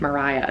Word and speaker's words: Maria: The main character, Mariah, her name is pronounced Mariah, but it's spelled Maria. And she tells you that right at the beginning. It's pronounced Mariah.